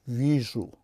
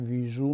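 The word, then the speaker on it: вижу: یا ویژو نمیگیم، میگوییم که یا ویژو، یعنی وی را بلندتر نسبت به ژو تلفظ میکنیم به خاطری که زده افتیده است.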